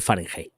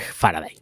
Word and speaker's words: farad: foil in the bag farad that is not Farenheit is farad that I said it wrong the other day so